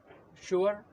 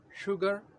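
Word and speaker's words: sugar: तरह भी होता है जब लेटर इसके बाद लेटर यू वो वाला जाता है तो वहां पर भी इसी तरह का साउंड प्रोड्यूस होता है शुगर शुगर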